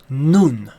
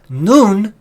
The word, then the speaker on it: nun: now in you in is properly pronounced noon okay noon is a letter also